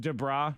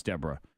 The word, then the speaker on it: Deborah: I'm like, is it pronounced Debra? No, it's Deborah.